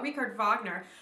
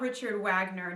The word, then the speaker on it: Richard Wagner: okay but it's not richard wagner nobody says that they pronounce it their way the germans would which is richard wagner the w sounds like a v in german so if you say